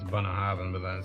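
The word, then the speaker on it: Bunnahabhain: Well, it's even just saying Bunnahaven because it's actually B's. B and H's are pronounced V's, and that's Scotch Gaelic for you.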